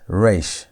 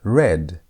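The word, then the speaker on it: ריש: Our next word is re r. Re has the ar sound. It's a as in the word red.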